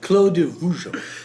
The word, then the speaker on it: Clos de Vougeot: This is Clos de Vougeot. What's the proper pronunciation? Clos de Vougeot.